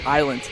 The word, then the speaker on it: island: Oh, the S is silent. So what is island?